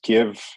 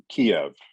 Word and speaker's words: Kyiv: this it's ukraine and it's give not kiev is that correct as well yes absolutely right and that is the uk ukraine pronunciation instead of the russian pronunciation yes absolutely okay so